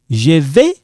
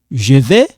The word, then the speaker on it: je vais: Now, we don't pronounce this. Je vais.